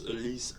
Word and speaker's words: Elise: on from the old you just said it wrong everyone's been saying they're wrong it's at least uh no at least